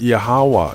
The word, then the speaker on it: Yahweh: The true name of the Creator is pronounced Yahweh, and for details on that research, please see my video, What is the True Name of the Creator and the Christ?